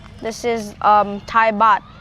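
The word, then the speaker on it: baht: This is the This is um Thai bat. It's called Thai bat. Mhm. And bot is spelled B A H T.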